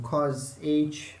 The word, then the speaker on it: cos h: h approaches 0 of cos h it's not cosh it's cos h minus 1 over h right if you pronounce it as cosh then that becomes a hyperbolic function it's not a hyperbolic